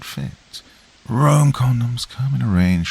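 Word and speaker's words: Roem: Rome, that's spelled R-O-E-M, not like the city, have an innovative range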